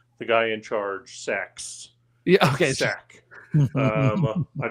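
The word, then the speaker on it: SAIC: in the Secret Service the special agent in charge s AIC is pronounced sack and it's been a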